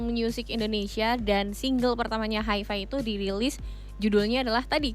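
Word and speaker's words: HIVI!: Hi-Fi, listeners bacanya Hi-Fi ya, bukan Hivi ya. Bukan, Hi-Fi tolong dong.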